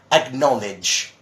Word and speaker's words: acknowledge: yeah how'd your ounce acknowledge just like knowledge he's got knowledge and